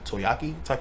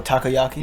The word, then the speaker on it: takoyaki: is much much better yeah charcoal bro no mispronounce the name but I think the first time I ever had octopus was like toyakiyaki oh takoyaki yeah which is like this is just fried